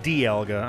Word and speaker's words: Dialga: that kind of thing pronunciation guide says D alga Dialga Dialga okay sorry Dialga with the stress in the middle yeah because English but